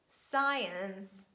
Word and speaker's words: science: is impossible that's why we just omit letter c and we pronounce only letter s as the sound si and we say scissors science scene scenario descent fascinate